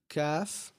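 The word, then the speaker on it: ق: Now, next up, we have calf. CF is usually associated with a K in English, right?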